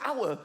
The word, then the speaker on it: hour: Why is the word hour spelt with an H? Why is there an H? The silent H.